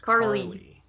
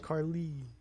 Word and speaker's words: Carle: and only co-host miss Carlene Oh Carly why do you say it is if it's spelled like CA RL e that's not how I said it is it Carly yeah that's my happy